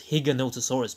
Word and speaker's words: Giganotosaurus: I know I pronounced Giganotosaurus as Giganotosaurus. I use Giga because you say gigabyte, not gigabyte. Though the name does mean giant, so Giga is more appropriate. Actually, I think the proper way to pronounce it is Giganotosaurus because of its Spanish origins.